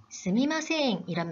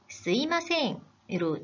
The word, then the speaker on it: すみません: 스미마셍을 스이마셍 으로 발음하기도 합니다. 아, 정말 너무 혼란스러워요 하는 학생들이 있는데요. 두 표현 의미의 차이는 없습니다. 하지만 두 표현 중에 스미마셍이 올바른 표현입니다.